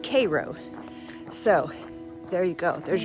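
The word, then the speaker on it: Cairo: But, uh, anyway, it is pronounced Cro.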